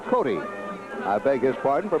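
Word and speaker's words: Cote: don't know Greg and I was just going by the spelling c o te but that is Greg Cody I beg his pardon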